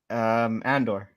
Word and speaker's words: Andor: So How do you pronounce it? Andor.